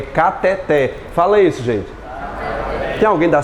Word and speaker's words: cateter: essa palavra né cateter pessoal da medicina utiliza cateter não é cateter é o que gente cateté de novo cateter e agora vai à mão cateté a mais forte é o que o técnico vítor